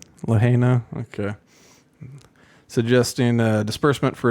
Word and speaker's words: Lahaina: of Lahaina alone do you know how it's pronounced Lahaina okay suggesting uh disbursement for its residents of